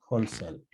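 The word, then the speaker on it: whole cell: y eso se llama hölzl no se pronuncia la w eso se llama hölzl célula completa entonces ahora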